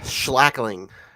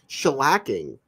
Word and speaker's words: shellacking: right after the uh shackling shackling Slack Shing shellacking I added an extra syllable uh shellacking of Penn